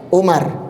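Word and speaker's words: عمر: Jadi kalau antum dapati seperti ini, ada wau-nya, ain, mim, ra. Kemudian ada wau, berarti bacanya Amrun, ya, Amar, Amrun. Tapi kalau enggak ada wau-nya, antum baca apa? U Umar.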